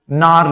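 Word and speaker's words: gnarl: तो उस रफनेस को, उस ब्रांच के रफनेस को, ट्विस्टिंग को हम नार्ल बोलते हैं। क्या बोलते हैं, नार्ल। नार्ल। यहां पे भी जी क्या होता है आपका, साइलेंट होता है।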